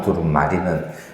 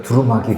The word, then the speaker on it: 두루마리: 발음 조심하셔야 돼요. 두루마귀와 두루마리는 다릅니다. 옛날에 목사님들이 발음이 꼬이셔 가지고 저도 가끔 두루마이 그러는데요.